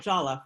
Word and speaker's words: Jollof: Okay, so Jollof, that's how you say it, Jollof. I mean, there are people who say it differently, but in my head,